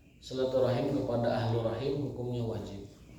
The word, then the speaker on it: silaturahim: bab ke-28 hadits ke-56 silaturahim silaturahim itu dapat menambah umur menambah usia sekedar sekedar mengoreksi pelafalan yang benar itu bukan silaturahmi tapi silaturahim teman kita sudah sudah latanya